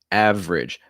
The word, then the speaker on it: average: our second one average average so that first e is not usually pronounced okay a couple quick